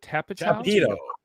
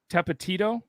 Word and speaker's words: Tapatio: Tapatio. Tapatito. It sounds just like- Tapatio.